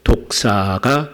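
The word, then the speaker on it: δόξα: 기억을 하실겁니다 그니까 발음상 헬라 발음 3 독사 뱀 독사 가 아니고 헬라어로 독사가 바로 영광 이라고 하는 탄허 에요 그런데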